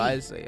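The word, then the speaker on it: Wriothesley: Risley, okay. That's how it's pronounced.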